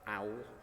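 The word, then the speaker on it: OAWAL: another unpronouncable title um owl um rhymes with towel um this is something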